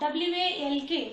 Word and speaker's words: walk: Walk, W-A-L-K, walk. We write it as W-A-L-K, but while pronouncing we used to pronounce as only walk, where L is silent.